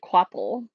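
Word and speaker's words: Kvapil: Pretty sure you're supposed they pronounce it Quapple, but voiceover says Fabble?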